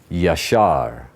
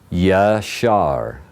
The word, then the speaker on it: Yashar: Yud, Shin, Resh is Yashar. Yashar.